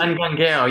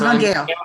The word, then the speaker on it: Angangueo: Is that how to pronounce it? Anguangueo, yeah. So Anguangueo, sorry.